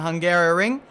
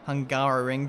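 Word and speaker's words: Hungaroring: the last race in the hungarian ring and we're going to do that again today is pronounced hungaro ring very odd hopefully that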